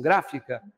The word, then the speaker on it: gráfica: O tema que eu coloquei, acentuação gráfica, a palavra gráfica é proparoxítona. Gráfica.